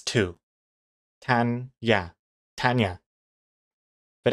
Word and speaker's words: Tanya: it's two tan yeah Tanya but X Comics thinks it's three Tania Tania never heard of that before I always thought Tanya two syllables uh five letters that's